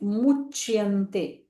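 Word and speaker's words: मुच्यन्ते: And when we see the letter C, we have to pronounce Ch. Okay, Muchyante. Ye Pachantya.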